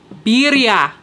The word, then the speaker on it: birria: for you okay okay so Vidya birria beer yeah I won't forget it it's okay no I finally know how to say it um anywho that looks